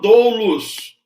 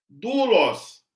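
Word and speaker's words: δοῦλος: palavra escravo do loss Eu não falo douulos não fale douros eu falo duolos ok falo duas deixa eu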